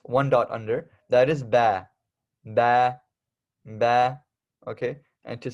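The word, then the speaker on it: باء: under that is one dot under that is ba ba ba okay and to spell that out we have B Double A so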